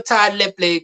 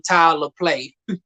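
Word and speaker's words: Tyler Lepley: But yeah, Monsieur Ty Lepley, that's how you phonetically pronounce his name. All this time I've been calling him Tyler Play.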